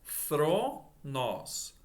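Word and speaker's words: θρόνος: Thronos, veja que não é tron, porque começa com feta. Aqui, ó. Thronos. Ó, o acento mostrando a sílaba tônica. Thronos.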